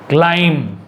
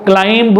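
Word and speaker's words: climb: सो बी is silent, कहाँ यहाँ पर देख लीजिए, क्लाइम, यहाँ पर आपको क्लाइंब नहीं बोलना है, बी साइलेंट है।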